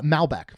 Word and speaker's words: Malbec: Looks like it's pronounced uh Malbeck from Mendoza.